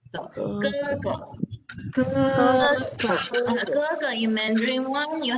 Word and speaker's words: 哥哥: It's a pronunciation. So 哥哥.